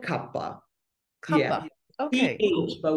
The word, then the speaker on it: Kapha: We call it Kapha.